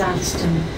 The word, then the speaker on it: Atherstone: This train is for London Euston, calling at Atherstone, Nuneaton, Rugby, Northampton, Milton Keynes Central, Waterford Junction and London Euston. The next stop is Atherstone.